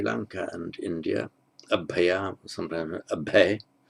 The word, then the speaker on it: abhaya: and India, abhaya, sometimes abhay. In modern Hindi it would be pronounced abhay, but abhaya, meaning without fear, fearless.